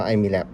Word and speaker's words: Imilab: ครับ หัน ด้าน นี้ หัน โลโก้ ไอ้ มี แลป ให้ อ่าน ว่า ไอ้ มี แลป ได้ นะ ครับ อัน นี้ คือ